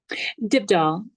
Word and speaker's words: Dybdahl: How do you pronounce it? Is it Dybdahl? Dybdahl.